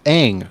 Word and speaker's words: Aang: things I mean like Aang is how it's pronounced in the show and they're like actually